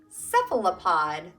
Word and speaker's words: cephalopod: this word much yet its sifl a pod cephalopod how many syllables cephalopod four so a cephalopod is